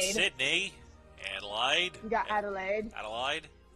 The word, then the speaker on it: Adelaide: Adelaide. It's pronounced Adelaide, thank you very much.